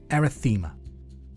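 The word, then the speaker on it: erythema: I'll spell that for you. E R Y T H E M A. Arythemma.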